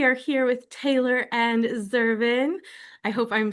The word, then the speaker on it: Zervan: We are here with Taylor and Zervin. I hope I'm saying that right. I've been saying it. I see it written, but I just want to make sure I'm pronouncing that correctly. Yeah, it's Zavon, but it's it's good.